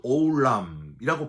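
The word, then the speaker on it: עולם: 이 땅에서 육체를 가지고 사는 우리를 지키시는 것도 참 감사하고 행복한 일인데 하나님은 우리가 죽고 나서 죽음 이후의 삶, 히브리어로 워드 오울람이라고 발음을 하는데 이거 하나님께만 쓸 수 있는 단어입니다.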